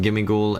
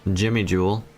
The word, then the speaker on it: Gimmighoul: of course I need gimmig goul and oh sorry sorry uh let me pronounce it correctly Jimmy Jewel and goldo and this